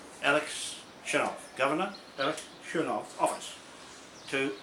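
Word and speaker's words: Chernov: Is that how you pronounce his name, Churnov?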